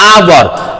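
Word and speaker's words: hour: आवर आप कहिए आवर एच से शुरू है इसलिए ए लगा देते लेकिन लिखते हैं तो यहां पर आवर बोलते क्योंकि यहां पर एच का उच्चारण होकर भी नहीं है इसलिए ओ य आर इसको आवर पढ़ते हैं एक साइलेंट है इसीलिए जब साइलेंट है तो आवर का उच्चारण आ से शुरू हुआ आ से शुरू होने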